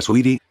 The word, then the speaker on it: Saweetie: será de la rapera sawriri se pronuncia suiri Ay no tengo idea